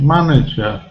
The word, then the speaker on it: manager: can see an exception we've got a vowel consonant vowel but it's short manager we haven't got double n following but it's an exception we need to learn that like change manage it